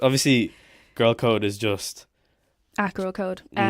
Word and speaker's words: Gxrlcode: At Gxrlcode. It is spelled Gxrl. Okay. C-O-D-E. C-O-D-E, yeah. The I is an X.